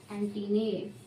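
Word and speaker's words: antennae: लोग कहते हैं एंटीना, एंटीने, ठीक है। प्रोनाउंसिएशन जो है आपको एंटीने, ठीक है।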